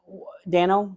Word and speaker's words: Dano: I mean, Dano, that's how you say his name.